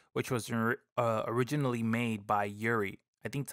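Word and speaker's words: UREI: And the one which takes the crown is the 1176, which was originally made by Yuri. I think that's how you pronounce it. U-R-E-I, Yuri? Yeah.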